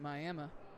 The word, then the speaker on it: Miami: So, not to deviate too much, but Dolan says they pronounce it Miami in Oklahoma.